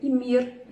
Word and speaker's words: Ymir: fogo, Ymir, o Ymir, eu esqueço do R, que eu acho que a pronúncia correta seria Ymir, ele deu origem a muitos seres, né?